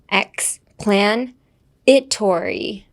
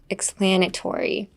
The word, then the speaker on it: explanatory: X- If you break it down piece by piece, X, plain, like the word "plan" meaning to plan something. X-plan-i-tory. Explanatory. The spelling doesn't have an I, but pronunciation-wise, it sounds like an I.